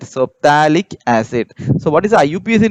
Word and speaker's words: phthalic: give this term as phthalic acid okay pH so here pH is silent so thalic acid so what is